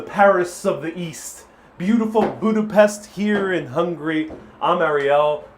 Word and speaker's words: Budapest: Beautiful Budapest here in Hungary.